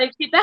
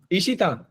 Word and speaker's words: इक्षिता: अवंतिका और इक्षिता। सिमरन। अवंतिका को पार्टी में जाना पसंद है, बताओ। सर, इमेजिनरी पार्टी में ही चढ़ जाते हैं ना, तो जा नहीं पाएंगे। और 2 नाम बोल दो। इक्षिता।